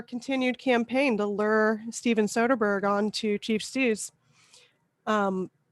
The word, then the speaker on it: Soderbergh: with steven soderbergh i looked up how it's pronounced it's soderbergh so somebody asked him about why he likes